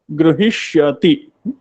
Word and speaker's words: गृहीष्यति: गृहीष्यति, गृही ही दीर्घः भवति, उच्चारणे अपि यदि अवधानं भवति उत्तमम् अस्ति, प्रयत्नः उत्तमः अस्ति।